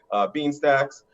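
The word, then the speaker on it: Beanstack: or no feed sacks there we go I always pronounce it wrong bean stacks and through bean stacks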